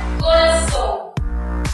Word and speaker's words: corazón: Por ejemplo, la palabra corazón. La palabra corazón, la mayor fuerza de voz que trae en la sílaba son.